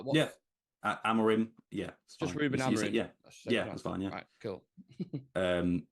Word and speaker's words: Amorim: great question and also leader the sorry the pronunciation as well do I say it right yeah amarim yeah Ruben fine cool um I'd say leader